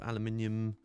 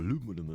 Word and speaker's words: aluminium: That one is the change the colour of the tank, so you can have aluminium or aluminum, as the Americans say, or chrome.